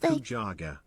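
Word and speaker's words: 肉じゃが: Nikujaga.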